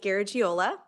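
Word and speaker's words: Garagiola: okay it's um Jackie gajola um so yeah if you're a baseball fan Joe gajola same pronunciation and spelling um welcome to committee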